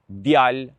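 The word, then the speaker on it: djalë: Boy, djal, djal. So the same rule we apply with the person pronoun I. Un, un. So do not pronounce the E.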